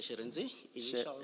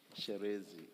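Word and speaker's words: Shirintzi: My name is Mr. Sherenzi. What? Sherenzi. Sherezi. Yes. Initials. Sherezi. Sherenzi, yes, Commissioner. It's spelled S-H-I. S-H-I. R-I. R-I. N-T-Z-I. And then initials are R-T. After the I, R-I? R-I, N-T-Z-I. N-D-Z-I.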